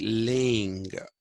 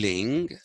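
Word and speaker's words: Laing: who went by the name of uh rd ling l-a-i-n-g or ronnie d-ling r d ling wrote a book called the skeezoid self schizophrenia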